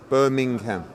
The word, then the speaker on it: Birmingham: I say Birmingham but you got to properly pronounce the G Birmingham Birmingham that's what P